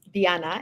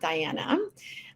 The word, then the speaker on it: Diana: America which is why my name is pronounced Diana and not Diana I'm coming to you from